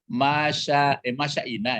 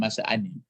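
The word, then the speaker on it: المشّائين: Masya'ina ya, bukan masya'ani.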